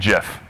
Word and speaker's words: GIF: is for me to pronounce these two acronyms Jason and Jeff and Jason is better